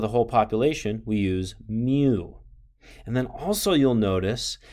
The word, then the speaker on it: mu: entire population we use this greek letter that's pronounced mu so you can see that the formula here